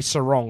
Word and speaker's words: Sarong: I looked at Sarong and I was like, I heard him pronounce his name on the thing and they say Sarong like a ladies bather.